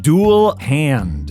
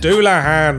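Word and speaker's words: Dullahan: It's pronounced ein hairyar. Say tires? It's satyrs. Okay, I think I got this one. Dual hand. Doulahan.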